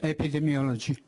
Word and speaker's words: Epidemiology: All right, have you published in the American Journal of Epidemiology? I'm not certain how to say the word, but... Epidemiology.